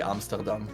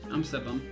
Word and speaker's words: Amsterdam: I just say normally Amsterdam in my language. That is the Dutch pronunciation, yeah. Oh, okay. Amsterdam.